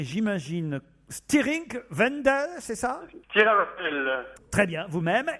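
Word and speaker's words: Stiring-Wendel: lui alors là Alexandre excusez-moi mais il faut prononcer j'imagine Stiring Wendel c'est ça très bien vous-même et c'est en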